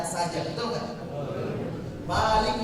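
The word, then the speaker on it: مالك: Malik Yaumiddin, panjang, nggak boleh pendek.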